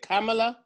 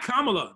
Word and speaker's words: Kamala: name i don't know how to say it carmilla i don't white i only with white girls that's why oh my god kamala then they'll understand who it is uh so